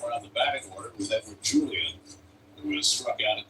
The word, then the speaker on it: Edouard Julien: Nonetheless, once his name pronounced, Edward Julian, not Edouard Julien.